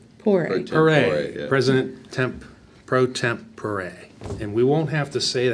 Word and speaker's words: pro tempore: procedure, we added the appointment of a president pro temp pure. How's that how you say it? Pro Pure. tempore, yeah. President pro tempore.